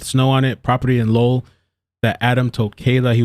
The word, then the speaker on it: Lowell: I said this is Lowell or Lowell. No, I said Lowell, but apparently it's Lowell. Like lulls, lol.